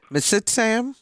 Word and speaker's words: Mitsitam: you ran the the m i want to pronounce it correctly mitsitam the mitam cafe yes yes so what's the